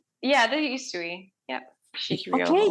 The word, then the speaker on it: Usui: Was it Like, yeah, the Usui. Yep. Okay, Usui.